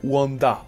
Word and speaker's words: Wander: Oui, il s'appelle Wanda en VO, mais j'ai toujours prononcé Wander.